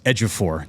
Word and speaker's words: Ejiofor: back of his jersey, Edge-EH, and then the number 4. That way I know it's Ejiofor.